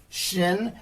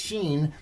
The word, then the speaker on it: Shin: I was pronouncing this Xin but I'm finding out I was pronouncing well I'm not sure I've heard it both ways but since last time I filmed Shin I think is the preferred pronunciation and that's how we're